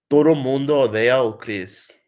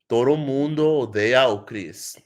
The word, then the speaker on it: Todo mundo odeia Chris: But I'll pronounce it for you. So Todo mundo odeia Chris. That's how you say it. Todo mundo odeia Chris.